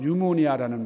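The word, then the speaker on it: pneumonia: 헬라어로 푼유마라는 호흡이라는 말을 영어로는 피 발음을 안 하잖아요 그래서 유마 유마 거기서 유모니아라는 말이 나왔어요 뉴모니아가 뭐죠 우리가 폐렴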